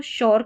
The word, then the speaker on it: sure: Already मैंने बताया था, इसको श्योर करके पढ़ते हैं। तो यहाँ पर श्योर है, कुछ वर्ड्स में यहाँ पर श्योर पढ़ते हैं SURE को।